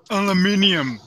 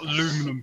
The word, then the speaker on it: aluminium: So that's why it's aluminium, not aluminum.